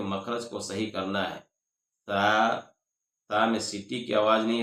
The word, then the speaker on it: ت: کو صحیح کرنا ہے۔ تا یہ نرمی سے ادا کرنا ہے، اور طا کو موٹا کرنا ہے۔ الثا، سین، شین، صاد،